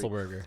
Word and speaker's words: Otzelberger: Yeah, I say it like Roethlisberger? Like Roethlisberger. I'm so used to fucking hanging out with Jerry. Otzelberger.